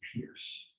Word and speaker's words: Pires: and your last name is pronounced It's actually pronounced Pierce. Pierce. It's like Pires.